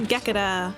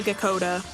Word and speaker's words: Gekida: My last name is pronounced Gekida. Gekida. A lot of people say Gekota.